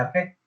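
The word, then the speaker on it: ἀρχή: Aquí recordamos esta palabra arge. Se escribe arche, se pronuncia arge.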